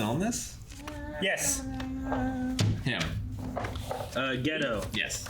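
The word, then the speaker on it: Geto: this yes him uh ghetto yes his name is it's like pronounced gato or spy isn't he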